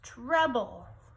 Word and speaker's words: treble: we go treble class kind of sounds like trouble like when you get in trouble but it's treble it looks like this